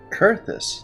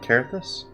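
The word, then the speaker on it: Coerthas: Kurthus, not Karthus? Been saying it wrong.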